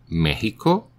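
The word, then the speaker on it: México: severe in the world Mexico and its variants like Mexicano the X is pronounced like the Spanish J seems it derived from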